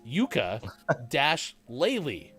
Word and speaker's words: Yooka-Laylee: laylee oh my gosh i thought that when sports that game was reading this earlier that it was spelled the same as the instrument it's not it's yuka dash laylee what is your sister